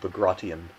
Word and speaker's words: Bagration: One of the users here, Bro Rialli, says that the operation that destroyed Army Group Center is pronounced Bagration.